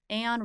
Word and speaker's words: Aon: Okay, so you won the how do you pronounce this? Is it the Aon Risk Reward Challenge? Aon Risk and Reward, yes.